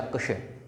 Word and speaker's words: कक्ष: कक्ष। यानी इसके अंदर क आधा है और श, और इसका उच्चारण क और श, कक्ष ऐसे होना चाहिए।